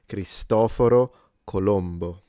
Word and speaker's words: Cristoforo Colombo: I'll go back to this one cuz I want to see the joke with the aliens, but let's pronounce it once the correct way in Italian. Cristoforo Colombo.